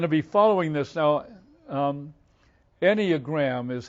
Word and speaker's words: Enneagram: Enneagram is how I pronounce it, but it's spelled Enneagram.